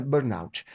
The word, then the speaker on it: burnout: A pronúncia burnout. Burnout, tá certo? Burnout. Cada um fala de um jeito aí, mas o correto então é burnout.